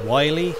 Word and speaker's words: Willy: once in a while it's not pronounced Willy it's Wiley Wiley is a secret